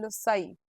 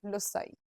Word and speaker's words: loci: जब प्लूरल होती है उसको हम बोलते हैं LOCI, लोसाई। कैसे प्रोनाउंस करना है? लोसाई।